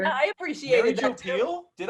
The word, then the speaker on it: Pehl: And so it specifically says in the trivia that your last name is pronounced Pehl. Which I remember thinking, I don't think that's trivia. I think that's how you say your name. But it's spelled P-E-H-L.